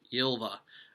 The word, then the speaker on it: Ylva: I always mispronounce the name. I always say Ylva. It's Ylva.